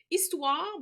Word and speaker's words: histoire: Histoire, il y a un petit H muet qu'il faut savoir par cœur, bien évidemment.